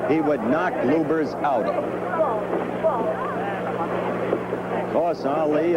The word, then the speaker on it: Lubbers: Or Lubbers. It's pronounced both ways. Lubbers is probably more technically correct. Anyway, it's the way Rudi wants it said.